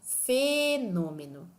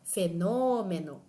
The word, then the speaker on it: fenômeno: mais um exemplo fenômeno eu não digo fenômeno também não digo fenômeno tão pouco fenômeno todas essas formas tornaram a palavra meio estranha não tão habitual mas se eu disser fenômeno vocês vão reconhecer a palavra de uma forma muito mais tranquila vocês vão perceber que